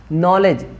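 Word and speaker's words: knowledge: honest हा silent है यहां पे नॉलेज नॉलेज यहां पे कैसे आयरलैंड है यहां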